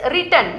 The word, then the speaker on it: written: Yes, that is written, not written. Okay? W is silent there.